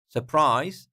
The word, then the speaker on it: surprise: be same where right S surprise second syllable surprise you see second syllable is higher surprise and then famous famous